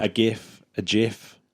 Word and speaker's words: GIF: A GIF, a GIF. It's actually pronounced GIF. Yeah, a lot of people pronounce it GIF, but I've always pronounced it GIF. Because the graphics in GIF begins with a G.